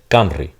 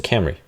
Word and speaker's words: Camry: Well, don't be surprised if Spanish speakers pronounce this as a trill and say Camry, un Camry de Toyota. Right? You might hear somebody use a more anglicized pronunciation. They might say, es un Camry.